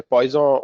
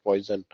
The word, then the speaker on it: Poisson: You generally pronounce Poisson, you don't read it as poison. Um, French generally eat away their last word for some reason, right? So you'll see, though they write a last word, but they don't pronounce it, right? So poison, it stops at O.